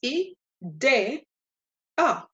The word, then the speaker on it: idea: of the sound idea it's not gonna sound like an e it's gonna sound like a short a because that's how the letter e songs in Spanish so this is e day ah e day another rule of syllabification